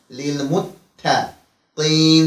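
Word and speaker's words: للمتقين: Muttaqin kelimesinde t harfine dikkat edek. Muttaqin kimi der kimi çıkmasın. Lil muttaqin şeklinde okuyuruz.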